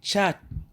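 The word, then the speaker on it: 七: Pour prononcer chat, imaginez le mot chat. Et ensuite, tu oublies le terminaison, puis tu dis chat.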